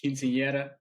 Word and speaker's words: quinceañera: I know I can't pronounce it right. Oh, quinceañera. Quinceañera, there we go.